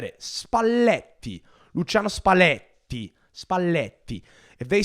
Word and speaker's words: Spalletti: tactics and talking about spalti who can't say spalti he says spalti spalti again the double pronunciation of the El that's actually listen my